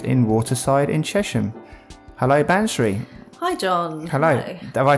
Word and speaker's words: Bansree: the bagnall project in Waterside in chesham hello banshri hi John hello have I pronounced your name right you have yeah yeah